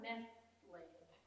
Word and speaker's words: nestled: The children were nestled. Nestled. The T is silent.